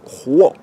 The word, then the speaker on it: 活: Alors aujourd'hui, je voudrais vous parler rapidement des deux rois. Rois, vous entendez un R, mais c'est un H aspiré en chinois, ça s'écrit H-U-O.